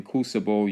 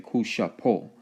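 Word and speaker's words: Cusabo: The English bo was actually closer to po. Okay, so when you're talking kusabo, you're actually saying kushapo.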